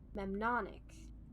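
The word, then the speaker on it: mnemonic: Same Greek root as the word memnonic. I think I pronounced that right. The M is silent.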